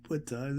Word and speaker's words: Ptah: The P is silent, but we say Ptah. It's just Ta.